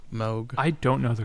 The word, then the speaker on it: Moog: The was it Moog? Is that correct? Moog. I don't know the correct pronunciation.